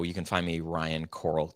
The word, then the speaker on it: Koral: So, you can find me Ryan Coral. It's K O R A L. Uh, so it's pronounced like uh under the sea, but spelled totally different.